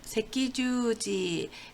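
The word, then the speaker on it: 赤十字: 그래서 이거를 새끼주지, 네, 새끼주지 적십자라고 했습니다.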